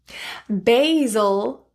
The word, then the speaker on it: basil: Data pronounced as a or a. Basil or basil.